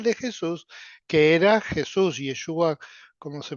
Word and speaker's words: Yeshua: nombre propio real de Jesús, que era Jesús Yeshua, como se pronuncia allá.